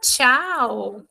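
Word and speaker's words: ciao: A palavra tchau. Tchau, que em italiano é oi. Tá? Palavra tchau também pode ser tchau. Pode ser tchau, tá? Oi e tchau. Em italiano é só tchau.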